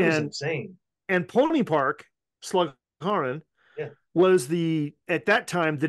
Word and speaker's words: Slagharen: Slagharen, Holland. Oh, wow. I probably didn't pronounce it right, but I was close. No, you did. Slagharen, yep.